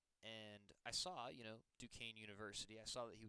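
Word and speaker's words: Duquesne: Johnny Mill went to Dukane University. Yes. Does not look like Dukane. That is how you That's how you say it. It's not Dquenzy Dquz. Dukane.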